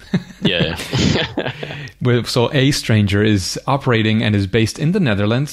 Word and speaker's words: aeStranger: you pronounce a stranger it's just a stranger it's just that that sort of letter combination so it's a stranger it's just an interesting